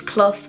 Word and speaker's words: Clough: But for those of you that do actually want to know how to say my name correctly, it's Clough. So C-L-U-F-F, but it's actually spelled C-L-O-U-G-H. So yeah.